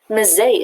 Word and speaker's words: Mzee: I've been pronouncing it incorrectly. Mzee it is.